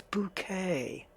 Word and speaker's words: Bucket: bucket and every time they call her mrs. bucket she'd turn on and go it's bouquet just to try and